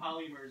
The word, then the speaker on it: polymers: did that make any sense at all technology polymers is not a thing what polymers not polyurethane